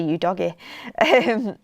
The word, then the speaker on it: Udogie: Everyone's taking the mick out of how I say Udogie.